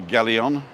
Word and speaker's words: Galeon: a taxi up here ask him to take you to Galleon Outlets with the accent on the o Galilee on about eight